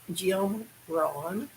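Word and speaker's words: Jim Rohn: over on it's spelled his last name is spelled r-o-h-n like john with an r so i said jim ron and he said quote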